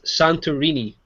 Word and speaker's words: Santorini: Oh, the correct pronunciation is Santorini for that game.